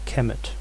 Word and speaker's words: Kemet: This is what it looks like in hieroglyphic script, and it is transliterated as km.t, usually pronounced Kemet.